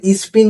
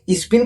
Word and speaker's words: স্পেন: আজরে Argentina আর স্পিনের final খেলা ঠিক আছে ভাই স্পিন খেলছিল নাকি ফিফাতে আমি তো শুনিনি। আরে মস্তান তুই মস্তান হবার আগে তোর উচ্চারণটা ঠিক কর। ওটা স্পিন না স্পেন হবে।